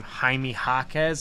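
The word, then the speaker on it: Jaime Jaquez: now I know how to say his name haime hakz I think I learned that on the Pod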